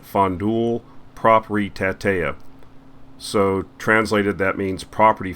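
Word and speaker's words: Fondul Proprietatea: The name of the company, I'll try to pronounce it, it's Romanian, but it's pronounced Fondul Propritatea.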